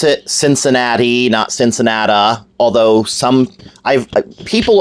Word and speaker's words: Cincinnati: and by the way we do not we pronounce it Cincinnati nots Ensenada although some people over 80 around